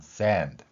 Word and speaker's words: sand: 우리는 sand 이렇게 발음할 수 있음에도 불구하고 일본어처럼 자음과 모음을 결합시키는 산도라고 발음하는 것이죠.